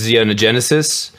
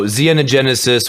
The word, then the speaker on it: Xenogenesis: the kingdom of fortress zeonogenesis no xenogenesis with an xh it's a silent h oh you have heard